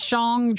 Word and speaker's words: Shang-Chi: Am I saying that right? It is Shang-Chi.